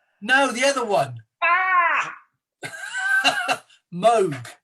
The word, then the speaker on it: Moog: How do you pronounce it? Moog. No, the other one. Moog. Moog.